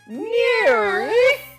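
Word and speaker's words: NIRYF: i r YF pod those are the letters for the name of the show and it's pronounced near I turned princess Bell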